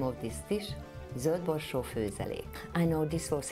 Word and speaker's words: Zöldborsó: regarding this dish called Zöldborsó Főzelék. Zöldborsó means green peas. If there are two dots, umlaut, on the O, we pronounce it Ö.